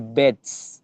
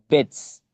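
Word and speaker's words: Betz: Estas son, literalmente hablando y escucha como lo digo, las neuronas motoras piramidales gigantes de Bets. Se escriben con B larga y con Z. Bets.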